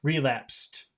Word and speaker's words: relapse: about the accented syllable where is it relapsed relapsed relapsed relapsed where's the X the laap relapsed relapsed I think it would be better to put it on the re relapsed Okay so relapsed